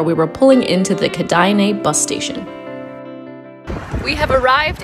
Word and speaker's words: Kėdainiai: kaunas the town which i now know is pronounced kedaine is almost bang in the center of lithuania from calnus we hopped on the bus and in an hour we were pulling into the kadaine bus station we have arrived in canada took